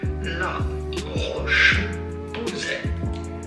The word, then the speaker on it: La Roche-Posay: How do you go about pronouncing it? La Roche-Posay.